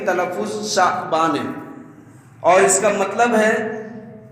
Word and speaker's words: شعبان: نام کو جانتے ہیں۔ تو شعبان کا صحیح تلفظ شعبان ہے، اور اس کا مطلب